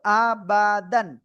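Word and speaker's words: أَبَدًا: এবার দাল এর সাথে কি আলিফ রয়েছে, দাল আলিফ দুই জবর দান, দাল আলিফ দুই জবর দান, কি হলো আবাদান, আবাদান, আবাদান।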